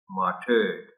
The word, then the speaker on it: martyred: The word is correctly pronounced as martyred.